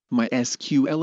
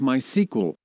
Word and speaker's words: MySQL: server it provides multi-user access to multiple databases mysql is officially pronounced as mysql but is often also pronounced as my sequel the word my in the name comes from